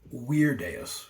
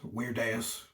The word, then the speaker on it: Virdeus: But the actual pronunciation, if we were being accurate, would be Virdeus, because Latin has V's that sound like W's. But because of his strange name, you can call him Virdeus, Virdeus.